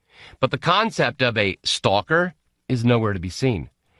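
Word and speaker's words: сталкер: into the Russian language stalker pronounced stalker in Russian is one of the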